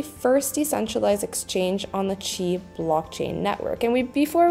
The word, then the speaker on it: Qi: today's project review and today we are reviewing Chi decks this is where you can stake trade and also create it is actually the first decentralized exchange on the chi blockchain Network and we before we move any